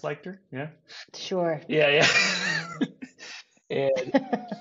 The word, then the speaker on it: Lichter: have on my podcast P leer is it pronounced leer yeah sure yeah yeah and she is a